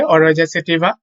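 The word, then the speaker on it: Oryza sativa: তো অনেকের উচ্চারণ করতে প্রবলেম হতে পারে, আমি বলে দিচ্ছি। ধানের বৈজ্ঞানিক নাম হচ্ছে অরোয়েজা সেটিভা।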